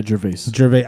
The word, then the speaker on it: Gervais: How do you pronounce it? Gervais? Yeah, Gervais. Gervais. I always said Gervais for some reason.